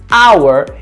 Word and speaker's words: hour: pronuncio o h agora quando eu falo a palavra hour Hauer Eu não pronuncio o h o som que eu tenho na palavra Hauer é um som de vogal e portanto eu preciso